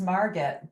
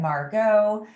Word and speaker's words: Margit: Well, my actual name that I go by is Margit, but believe it or not, I get some great pronunciations of that. I get Margit, I get Margot, I get Marguerite, really beautiful pronunciation.